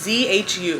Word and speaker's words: Zhu: Basically, Zhu, that's how I looked up the pronunciation of the names. It's Z-H-U. Zhu. It's how I think they pronounce it online.